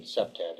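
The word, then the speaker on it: CPTED: updating uh to like second gen second generation SEPTAD as it's pronounced and um they were deemphasizing the amount of light the importance of light at that time.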